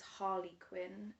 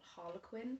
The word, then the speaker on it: Harley Quinn: with that it's like i know that it's harley quinn and not harlequin like harlequin is a